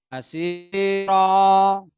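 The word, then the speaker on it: بصيرا: Tulisannya basiron, tapi dibaca basiro. Basiron dibaca basiro.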